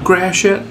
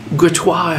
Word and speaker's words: Gratiot: It's pronounced Gratiot in the common tongue, Gratois if you're French, or as the astute of you might say, the shit.